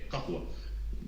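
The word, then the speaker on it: قهوة: No, café no es café como tal, así tal cual, pero es kahwa.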